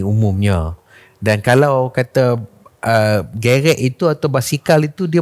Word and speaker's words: gerek: yang dimaksudkan adalah gerek G E R E K Ejaannya ga ya G tetapi sebutannya gerek macam sedikit dan a bermakna basikal ataupun di Indonesia disebut sepeda kan.